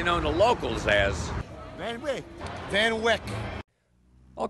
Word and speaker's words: Van Wyck: 678 but mostly known to locals as Van Van Wyck I'll call it interstate 678 today on the